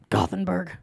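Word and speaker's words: Gothenburg: Nebraska that's a mouthful T where are you from gothenberg neas that's how they say it how many still gothenberg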